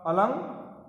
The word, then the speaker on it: अलंकार: उदाहरण देखिए, अलंकार शब्द में अनुस्वार क से पहले आया है, अतः इसका उच्चारण होगा अलंकार।